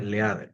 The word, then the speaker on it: leader: En este caso se escribe leader, se pronuncia en inglés leader.